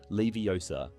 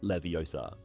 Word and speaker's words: Leviosa: film she corrects him by emphasizing the correct pronunciation of the spell Leviosa not Leviosa in the movie Sheamus finnean experiences mishaps in